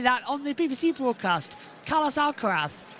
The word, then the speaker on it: Alcaraz: But it's you don't pronounce Zed. It's Alcarath. It's Spanish. Proper proper pronunciation being Alcarath.